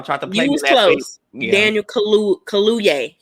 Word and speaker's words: Kaluuya: from it y'all tried to please close daniel kaluye kaluye that's how you pronounce it we can't hear you muted you're